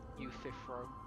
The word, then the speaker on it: Euthyphro: Oh, nice to know I pronounced it correctly. Euthyphro.